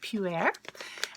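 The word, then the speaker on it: pu'erh: yummy then we have pew air tea and mrs. felt P P you apostrophe e r H and it's pronounced pew air and pure tea is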